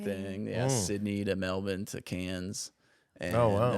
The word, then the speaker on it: Melbourne: he was there because he said Melbourne instead of Melbourne. Yeah. Melbourne. Melbourne. That's how they say it. They Melbourne. I'm like, I hear some of those consonants in there when you say it, like, Yeah. they're not like Melbourne. Yeah, They're you're like, Mel- I only know how to say it with the R, with the ER.